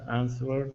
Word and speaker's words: answered: answered me curtly and answered me ctly yeah so take out that W the W doesn't belong there answered answered uhhuh and